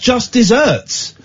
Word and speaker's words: just deserts: It's pronounced just desserts.